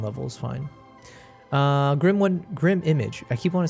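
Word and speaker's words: Grim1Mage: You said pronounced Grim Image.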